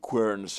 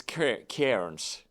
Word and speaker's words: Cairns: I really appreciate Andy Querns or Cairns. It's not like the mushroom protein guy. He was Querns. Yeah. Martin Querns. But it's Cairns.